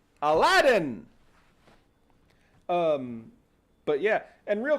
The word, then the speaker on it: Aladdin: wait what yes and the original pronunciation was believed to actually be to be alad Dion but it was changed into Aladdin um but yeah and